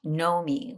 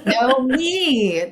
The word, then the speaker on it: Knomee: Knomee with no W. And two E's. Okay, good. Knomee. Knomee. That's right. Yeah. It's a bit of a command. Like, I want you to know me.